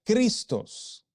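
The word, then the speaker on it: Χριστός: la relación allí y el sustantivo Cristo que es ungido Mesías Salvador se pronuncia cristos los tres son sustantivos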